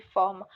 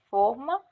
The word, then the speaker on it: forma: Outra cadeia sonora é, por exemplo, que forma pronunciado com O fechado, forma, pode ter o sentido de molde, ao passo que se pronunciado com O aberto, forma, pode ter o sentido de formato.